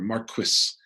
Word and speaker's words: Marquis: So almost immediately, Charles II takes the throne and he martyrs the man who enthroned him as king, the Marquis, or Marquis, as they pronounced it, of Argyle, the